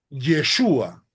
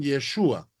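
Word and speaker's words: ישוע: el término al costado el término hebreo se pronuncia yeshua es sea el término hebreo que se traduce como salvación o como señor se traduce como yeshua es decir los hebreos pronuncian yeshua en Mateo 1:21 Ese fue el nombre que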